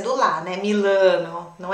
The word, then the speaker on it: Milano: gente tende a a deixar na salada essa pronúncia do lar né milano não é milano amy lanou mila começa assim